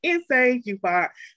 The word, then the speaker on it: Nsé Ufot: The correction is Inse Yufat. She's the CEO of the National Georgia Project. Her pronouns are she, her, and shawty. Inse? Hi, peace everyone. Inse Yufat, chief bottle washer, beggar and chief train conductor